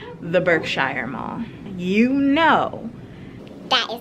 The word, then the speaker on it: Berkshire: Not the Berkshire Mall.